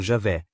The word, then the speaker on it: Javé: Assim, um conjunto de narrativas usa consistentemente o tetragrama, o nome de quatro letras YHWh, que a maioria dos especialistas supõe ter sido pronunciado Javé e parece mais interessado na tribo e no território de Judá em seus vários relatos.